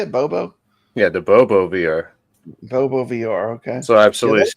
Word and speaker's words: Bobo VR: Yeah, the Bobo VR.